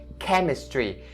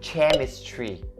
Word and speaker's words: chemistry: Chemistry. Even though its spelling contains CH, right? But then you don't say chemistry. It has to be the K sound right there.